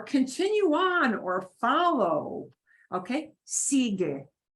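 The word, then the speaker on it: sigue: on or follow okay sige you can hear the get e at the end but you don't hear the sige Sig means the following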